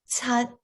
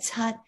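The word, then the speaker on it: 七: tone you'll notice that in yale the number seven um the tut it's spelled with the ch but it's really pronounced like a like you're kind of forcing that air out from your tongue pushing against the top of your mouth so it's more like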